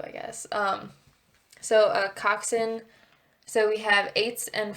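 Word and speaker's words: coxswain: to me what a Cox swne is a coxen well oh that's how you pronounce it yeah so silent S and W I guess um so a coxen so we have eights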